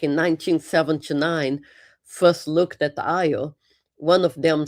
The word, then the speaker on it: Io: Uh, it's called IO. A lot of people get the name wrong uh because they think the I is an L or sometimes they even call it tan. Uh, but it's called Io.